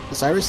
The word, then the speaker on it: Oceiros: Oceiros. Osiris? Osiris? There you go. Yeah. Ow, fuck. Osiris is spelled weird. It's not spelled like how you know it.